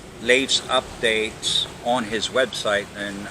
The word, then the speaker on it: Leif: get it retro I couldn't and it's not leave you know it's late yeah it's l ik e IM and i